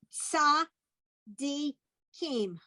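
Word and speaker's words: צדיקים: Okay, that's the ts sound. Zadi. Kim. Okay, so that word is sa di kim.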